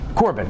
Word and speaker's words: Corben: Because you put the accent on the second syllable. Corben. Most people put it on. No, it's fine. I like it. So how do you say it? Corbin.